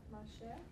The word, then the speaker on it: marcher: Ne vais pas marcher à Chicago. Uh-huh. Je ne vais pas, how do you pronounce that? Marcher. The ER can sound like a long A sound.